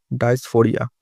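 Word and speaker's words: dysphoria: উত্তর হবে ডাইসফোরিয়া, এটাই হবে উচ্চারণটা।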